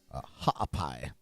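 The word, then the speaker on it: Haʻapai: residents of vavus and hapai a hot pie it's probably the better pronunciation of that which are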